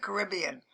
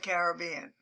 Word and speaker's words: Caribbean: most beautiful islands in the Caribbean, or some pronounce it Caribbean. I personally don't know which one is best, but I've always said Caribbean.